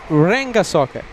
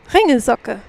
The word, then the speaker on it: Ringelsocke: It's Ringelsocke. You have to roll the R every time. It's rolling In of the this R. case, you're rolling the R, but you don't put like an accent on the L. It's just going through the word.